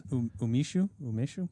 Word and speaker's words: umeshu: Six Finishes umeshu.